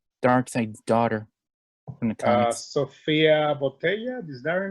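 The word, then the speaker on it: Sofia Boutella: Sofia Botella, is that her name?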